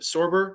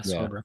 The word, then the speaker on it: Sorber: Sorber, right? Yeah, Sorber. Yeah, that's how you pronounce it.